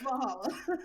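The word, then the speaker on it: VA-11 Hall-A: No, it's Valhalla.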